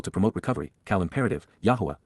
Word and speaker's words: Yahowah: Cal imperative Yahwa Yahwa the proper pronunciation of the name of Eloha God as directed in his Torah teaching regarding his high